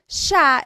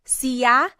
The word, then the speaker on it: siya: Siya is he or she.